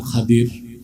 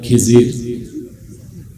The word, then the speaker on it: খাদির: আমার এক নেককার বান্দা তার নাম খাদির যারে আপনারা বলেন খিজির উচ্চারণটা কির আমাদের দেশের লোক বলে কি খিজির এটা ভুল উচ্চারণ।